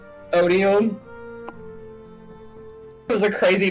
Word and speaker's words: Odium: Odium.